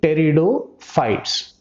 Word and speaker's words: Pteridophytes: are considering as terridotes it starts with the letter p but the letter p is silent here it pronounces as the terriotes it comes in the